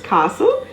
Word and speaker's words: castle: buffet b-u-f-e-t gourmet g-o-u-r-m-e-t t is generally silent when found in words that end with s-t-l-e such as castle c-a-s-t-l-e hustle h-u-s-t-l-e whistle w-h-i-s-t-l-e apostle a-p-o-s